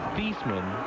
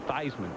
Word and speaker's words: Theismann: hey people forget that joe thiessman that was a real way to pronounce it until they wanted to be he wanted to become the heisman trophy candidate that's when they said joe theismann no i'm telling you